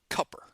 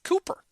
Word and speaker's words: Cooper: One of the annoying things about that is that they pronounce it Cupper. And that really bothers me. It's the name it has 2 O's in it. It's Cooper.